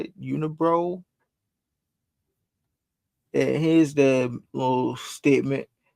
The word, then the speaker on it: Unibroue: That's how you say it, Unibroue. And here's the little statement: inspired by the stories and legends of Quebec since 1992. Let me see if I can full screen that one. Since 1992, Unibroue brews with passion, joie de vivre, and varying.